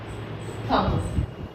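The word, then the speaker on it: thumb: Next example, थम, B silent होता है। हम थम भी नहीं बोलते हैं, हम थम ही तक यूज करते हैं। ऑलवेज एम के बाद कभी भी बी आएगा, बी साइलेंट होगा।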